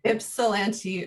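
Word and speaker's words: Ypsilanti: multimedia artist based in tell me how to pronounce this ipsilanti ipsilanti michigan um he has his mfa from uc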